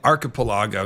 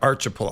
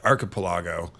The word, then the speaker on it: archipelago: whether it was an archipelago not archip I've been corrected archipelago or an ith which